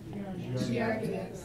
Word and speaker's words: Giardia: Giardia.